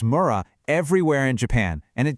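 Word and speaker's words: 村: You'll see this character, Mura, pronounced Mura, everywhere in Japan, and it just means village.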